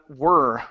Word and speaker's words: were: Okay, all right, very good. Next, we have were right here instead of ver. Okay, give me an oo sound at the beginning.